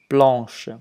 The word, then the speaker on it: blanc: Ici, le numéro 1, une chemise blanche, c'est une chemise blanche, la couleur est blanche. Puisqu'on apprend le genre est masculin ou neutre, blanc, on ne se prononce pas le se ici.